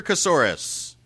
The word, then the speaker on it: Kasoris: That was brought to you by Peter Kasoris. Rhymes with banana.